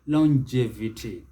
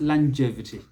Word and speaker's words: longevity: and remove it because the word is longevity longevity that is the british the americans longevity longevity so you can see the difference whereas that first syllable for the british it is long long for the americans it is land longevity the second syllable is the one that receives stress in both cases so longevity or longevity